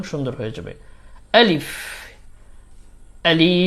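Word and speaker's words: ألف: আলিফ আলিফ আলিফের উচ্চারণ অনেকেই আলিফ আলিফ বলে থাকে উচ্চারণটা একেবারে স্ট্রং হবে আলিফ আলিফ আলিফ আলিফ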